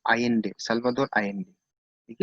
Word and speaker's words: Allende: तो 1970 में चिली का प्रेसिडेंट था ये जो मैंने आपको दिखाया, सल्वाडोर आयेंडे। ठीक है, तो the spelling is ALLENDE। Okay, pronunciation क्या है इसका? आयेंडे, सल्वाडोर आयेंडे।